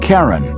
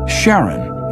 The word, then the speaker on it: Charon: Christie suggested the name Karen after the ferryman of Pluto's underworld in Greek mythology but preferred to pronounce it Charon more like his wife's name Charlene from the motions of